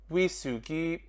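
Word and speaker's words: ウイスキー: Now the first word I think shouldn't be surprised is whiskey, which in Japanese you say wisugi.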